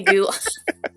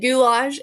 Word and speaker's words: goulash: No, it's definitely goulash. Yeah, you're you're correct. It is goulash.